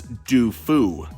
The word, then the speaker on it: Dofu: the past Rufus dofu the last name is obviously spelled to look like the word doofus but it's supposed to be a French surname pronounced as dofu I don't know Rufus